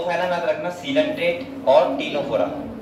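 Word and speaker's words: Ctenophora: कौन से फाइलम पे, टीनोफोरा। किस पे आते हैं, तो यहाँ पे मेरे ये सी से स्टार्ट होता है, ध्यान रखना। और टीनोफोरा में इसमें सी क्या है, साइलेंट।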